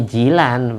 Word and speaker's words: Gilan: Kan biasanya Gilan itu bacanya Jilan, bahasa Inggris ya, Jilan, Al-Gilani.